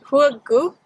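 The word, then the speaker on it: Hegu: is large intestine 4 that's pronounced who a goop and it's also called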